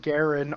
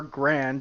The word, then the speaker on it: Garand: I'm just gonna say the M1 Garand or Grand, depending how you want to pronounce it, probably is what kept us going.